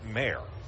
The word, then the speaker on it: Mayr: Behind the plate, Bramwell, and on the hill, Orlando Ortiz Mayer. And his last name, Ortiz, then a dash M-A-Y-R, but it's pronounced Mayer as the pitch is inside.